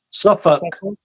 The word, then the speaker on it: Suffolk: Leisten Suffolk. Sorry, say that again. Leisten Suffolk. Suffolk. Suffolk. Okay. Suffolk. We pronounce it Suffolk, Norfolk.